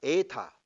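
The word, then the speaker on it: ἦτα: 에타. 에타. 에타. 에타는 바로 앞에 엡실론하고 짝을 이루어야 돼. 엡실론 단모음 에. 에타 장모음 에.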